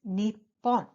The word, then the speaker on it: Nippon: is an interesting fact Japan in Japanese are pronounced in two ways one is Nippon and the other is Nihon so there are two